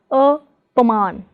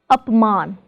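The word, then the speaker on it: अपमान: In apman, the prefix is up, so we do not pronounce it as apaman, but as apman.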